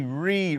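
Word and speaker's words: Reid: Reed. Reed rhymes with seed.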